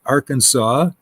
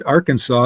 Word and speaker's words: Arkansas: And it's interesting because because Arkansas is arc and Kansas. And Arkansas is pronounced differently than Kansas, which is which is interesting.